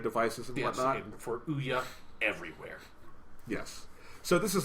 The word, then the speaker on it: Ouya: Well, it doesn't mean you have to say its fucking name wrong. All right, so Ouya, all right? Yes, Ouya.